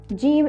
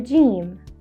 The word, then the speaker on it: جيم: Jeem is easy to pronounce and detect because it's identical to the English letter J, as in jump or join, and it only functions as a consonant letter.